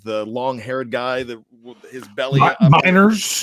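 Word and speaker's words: Meinerz: Miners, is that how you say it? Yeah.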